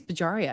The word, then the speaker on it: Bajaria: But you know, uh uh Bela Bajaria was up there talking about No, I think it's Bajaria. I realized I've been saying it wrong.